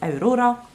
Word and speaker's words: Aurora: But she also wrote about another young girl named Aurora, which is so difficult to say in English, so I'm just going to say it like we say it in Norwegian, which is Aurora.